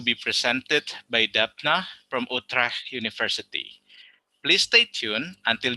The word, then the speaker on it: Utrecht: Utrecht is always very interesting to pronounce with the hard G that we have going on.